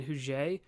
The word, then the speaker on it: Huger: that Norfolk would have to be abandoned Benjamin huge whose name is actually spelled Huger but it's pronounced in the French hugueno way would be